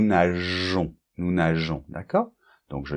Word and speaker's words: nageons: Donc, par exemple, nous nageons. Donc là, pour que la prononciation soit régulière, on doit rajouter ce petit E qui fait que on prononce nous nageons.